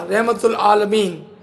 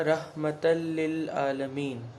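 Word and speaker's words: رحمة للعالمين: यहाँ पर अरेबिक में मैं इनको दावत दूंगा, वमा अरसलनाका इल्ला रहमतुल आलमीन। इसको सही तरह से प्रोनाउंसिएशन में पढ़ें आप। वमा अरसलनाका इल्ला रहमतल लिल आलमीन।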